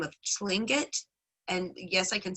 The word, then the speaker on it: Tlingit: many of them qualify under the name of slangit and yes i can spell that because it's r-t-l-i-n-g-i-t uh the tlingit follow raven and yes raven is coca a